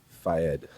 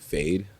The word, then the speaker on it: Fayed: I used to like pronouncing it like fade. Yeah. Like get a fade. Like yeah. Fade. fade. I But like like that. it's really Fayed.